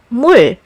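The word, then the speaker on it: 물: As an initial consonant sound, it's usually sounded as the R sound, but as a final consonant, it's closer to the L sound.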